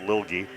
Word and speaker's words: Lilge: Is it Lilge or Lilge? But the coach definitely said Lilge before the game.